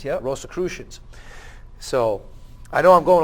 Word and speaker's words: Rosicrucians: The money was traced back to the Rosy Cross and the Rosicrucians, if I'm pronouncing that. Rosicrucians, yep. Rosicrucians.